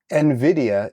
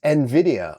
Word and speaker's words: NVIDIA: By the way, the proper way to pronounce NVIDIA is NVIDIA, okay? Don't do what the investment and Fed, and call it NVIDIA. That's wrong, okay?